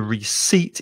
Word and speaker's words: receipt: train tickets but the receipt is receivable it's the justification that you have bought something also notice in the word there's a silent p that you do not